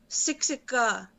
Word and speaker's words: Siksika: siksika it's spelled s-i-k-s-i-k-a the the k sounds like a g sixa and that's just a